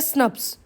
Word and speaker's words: snRNPs: SNRNPs मतलब इनकी pronunciation होती है स्नप्स।